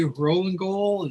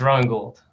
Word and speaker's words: Rowan Gould: Rollingall. Is that, I'm pronouncing that correctly or close to it? Close enough. It's Rowan Gould.